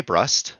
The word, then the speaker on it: Brust: I say Brust.